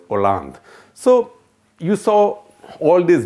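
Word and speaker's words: Hollande: a Bengali tried to teach a Punjabi French pronunciation because he said you keep on saying Holland Holland Holland he's not Holland Holland is the name of the country in France his name is pronounces or lungs so you saw all these various colors in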